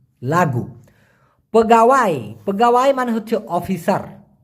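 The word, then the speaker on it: lagu: কে বলা হয় লাগু এল এ জি ইউ উচ্চারণটা হবে লাগু লাগু পগাওয়াই পগাওয়াই মানে হচ্ছে অফিসার অফিসার কে মালয়েশিয়ান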